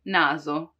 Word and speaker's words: naso: in between two vowels, when the S is in between two vowels. Like in naso, naso, nose, naso. You see, it's not naso, which would be the S from sorella, sorella, sister, but naso, more like a Z, right?